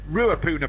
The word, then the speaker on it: Ruapuna: in new zealand uh raccoon parks are grade three all right we're actually pronouncing it wrong it would be uh rua ruapuna park yes my my uh kiwi